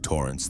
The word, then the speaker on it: Torrance: The pronunciation had been precise with the emphasis on the second syllable of Torrance that people always get wrong when they read my name for the first time.